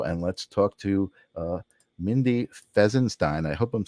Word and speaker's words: Fesinstine: I always said Fesinstine, and then I looked at the spelling, and I'm like, oh, it's no IEN, or it's INE, but that's like the Sistine Chapel, right? That's how that's spelled. It's Fesinstine, actually.